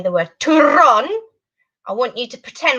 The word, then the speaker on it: turrón: So they have one called turrón. Turrón. Actually, that's upside down. Sorry about that. Turrón. That's a really funny word to say. Can you try and roll your R's like this? Like a telephone.